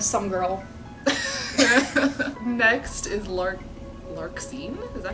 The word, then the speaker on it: Larxene: Next is Larxene?